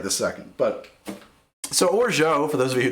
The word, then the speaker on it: Orgeat: I actually had a friend who is a French native speaker, and she says it's pronounced Orgeat. And I swear that's got to be because there's different regional pronunciations in France.